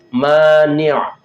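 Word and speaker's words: مانع: Kita lanjutkan nomor 3, mani', pakai ain ya. Bacanya mohon maaf berain ya, pakai ain.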